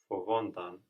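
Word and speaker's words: φοβόντουσαν: fovontan, Fovontan. Good. And again, we have the accent here on ontan, just like with kimontan, because kimame and fovame have their accent on the end.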